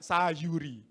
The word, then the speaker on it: Sayuri: dua kakak beradik ya jangan bacanya Sal y dan G sayur nak Sayuri ganteng keren gagah sebagai